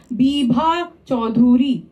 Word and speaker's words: বিভা চৌধুরী: এটা বিভা চৌধুরী নয়, সঠিক উচ্চারণ হলো বিভা চৌধুরী.